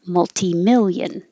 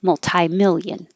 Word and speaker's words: multi-million: to notice isn't it you can say multi-million with a t or with a tie multi-million i hear people say both ways all the time if something is unripe